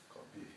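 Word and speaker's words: قبيح: And that's spelled Qaf, Qaf, Ba, Ya, Ha. Okay. Qabih.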